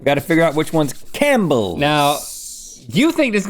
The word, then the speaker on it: Campbell's: Do you pronounce the P in Campbell's? No, that would be stupid. I would think that I had Campbell's soup there.